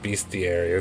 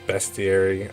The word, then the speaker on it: bestiary: the the the best I call it Beastie area that's not how you pronounce It Go bestiary I guess the thing that